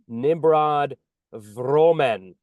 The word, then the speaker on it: Nimrod Vromen: I'm Spark the Genius today with Nimrod Vromen. Did I pronounce that right?